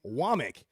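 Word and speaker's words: Wommack: They say they they pronounce her name Wamik. Everybody else pronounces it wack.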